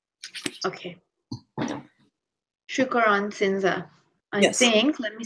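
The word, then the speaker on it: Chuokoron-Shinsha: It's Chukaran. Chukaran. Probably not saying that right. Oh no, it's pronounced. It's spelled CHUOKORON hyphen Shinsa. Okay. Shukaran Sinza.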